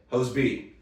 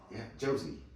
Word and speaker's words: Josey: movie reference was The Outlaw Josie. The Outlaw Josie Jose Wales. Wales. Josie, yeah. The Outlaw Josie Wales. Not Jose. It's Josie. Hose I B. said Jose. Hose B.